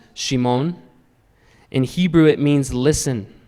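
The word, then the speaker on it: שמעון: this to be interesting simon pronounced in hebrew is shimon in hebrew it means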